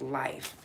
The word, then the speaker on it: LHF: It's vegan LHF, pronounced life.